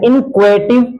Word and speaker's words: inchoative: इसको बोला जाता है इनक्वेटिव वर्ब्स। इनको हेटिव वर्ब्स नहीं पढ़े, इनको क्या पढ़ेंगे? इनक्वेटिव वर्ब, या इन्हें हम पढ़ेंगे इंसेप्टिव वर्ब, ठीक ना।